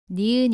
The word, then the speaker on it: 니은: 붙였다가 떼면서 발음합니다 몸 알을 붙여서 가 라고 발음합니다 따라해보세요 가 다음은 니은 입니다 뇌에는 위에서 아래로 쓰다가 오른쪽으로 씁니다 바램은